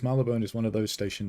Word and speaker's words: Marylebone: Uberk says Marylebone is one of those station names I don't know how to pronounce.